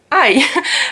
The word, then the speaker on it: Ei: Okay, something else with pronunciation is that if there's an E and an I, then it's pronounced like I. And the perfect example for that is Ei, which means egg.